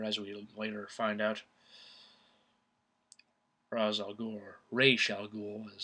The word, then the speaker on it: Ra's al Ghul: Actually, Gary Oldman was thought of for Ra's al Ghul. I'm going to call him that because that's how they pronounce it in the movie.